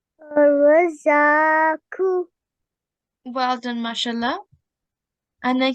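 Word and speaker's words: الرَّزَّاقُ: And remember, we can see that ra is color-coded, one of the color-coded letters. So they should be pronounced with a thick and heavy sound.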